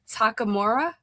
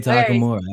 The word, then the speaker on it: Takamura: So, how do we say your name? Oh man, I kind of want to put you on the spot. How would you pronounce it? Uh, Takamura. Hey, you're right on the money.